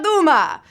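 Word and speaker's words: Dumas: to the world through Alexandra Duma the silent s there should tip-off he was French French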